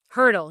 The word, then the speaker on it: Hertel: I used to always tell people it's like the track instrument, just not spelled the same.